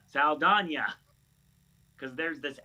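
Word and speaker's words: Saldaña: And now it has been completely flipped that literally her last name is pronounced Saldana. Yeah, you know, rhymes with lasagna, Saldana.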